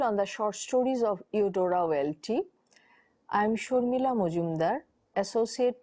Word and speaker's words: Eudora Welty: This is your module on the short stories of Eudora Welty.